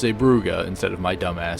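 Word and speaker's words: Zeebrugge: at in this expansion is zuga yes it's pronounced zuga instead of my dumbass saying iua anywh who zuga was a Belgian Port that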